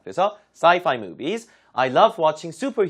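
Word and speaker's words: sci-fi: 주로 구워서 많이 쓰죠 말을 할 때는 saifi 무선 인터넷 와이파이랑 발음이 비슷합니다 그래서 sifi movies I love watching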